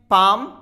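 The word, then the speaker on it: palm: पाम, तो एम के पहले आया एल साइलेंट, दोनों ही रूल हैं। देखिए वाउल के बाद में आया, एफ और वाउल दोनों के बीच में है, इसीलिए हमने इसको साइलेंट यहां कर दिया।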